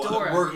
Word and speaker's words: Ghidorah: Okay, so we actually we talked about this, how to pronounce it, It's and Ghidorah. you looked it up. It's so Ghidorah, we're saying it correctly.